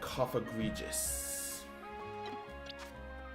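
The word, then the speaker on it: Cofagrigus: Yamask and Coffagregious. Pretty sure that's how you pronounce that. Like egregious and coffin.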